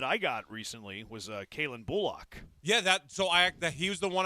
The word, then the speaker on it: Bullock: He's like, it's Kalen Bullock, and it resonated with me. I was like, that's a weird way to say his name. And then when the season started, everybody was saying Bullock, and I'm like, all these people are saying it wrong.